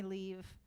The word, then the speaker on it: Liv: I think it's fine to not know my name, but you should call me Liv.